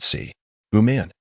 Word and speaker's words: Si Buman: "I am called Si Buman Si." "Buman. Unsatisfied, what a fitting name for one who steals from the court." "Friend, you've mispronounced it. Si is not a surname. It should be pronounced together.